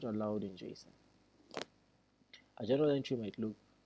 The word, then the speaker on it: JSON: A popular serialization format is called JSON, pronounced JSON, which stands for JavaScript Object Notation.